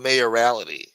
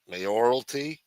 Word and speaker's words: mayoralty: They should call it mayorality. Mayoralty. Mayoralty. That's how you say it.